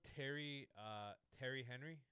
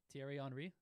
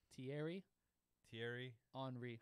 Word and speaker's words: Thierry Henry: You know Terry Henry? Thierry Henry?